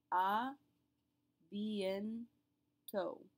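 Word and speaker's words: à bientôt: A bientôt. Note that we're not pronouncing the final T, just like in salut.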